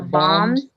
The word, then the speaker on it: bomb: The bombs destroyed the buildings. Okay. Notice that the last B, B-O-M-B, B next to the M, it's silent. So bomb, not bombs.